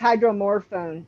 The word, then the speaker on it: Hydromorphone: a hospital yeah I couldn't know yeah it's Hydromorphone it's actually like it's it's morphine after it's